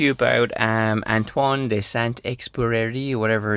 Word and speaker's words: Saint-Exupéry: about um antoan de s expi whatever it's how would you pronounce it you're half French s well I'm not an expert but yeah it's just s EX superi he sound super pretty well thank you